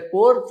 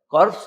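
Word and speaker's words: corps: Iranian Republican guard कोर त्या कोरच spelling CO आर पी एस असतं कॉर्प्स लोक त्याला म्हणतात पण त्याचा उच्चार कोर असा आहे म्हणजे सैन्याचा विभाग तर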